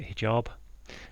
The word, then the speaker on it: hijab: scarf um I think I think you pronounce it hijab um haib hajib didn't know had